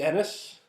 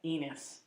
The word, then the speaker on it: Ennis: glad that uh I've been pronouncing your name wrong the entire time I've known you most people I don't know where they get eNOS you know I think it's his fans I think cuz eNOS is a first name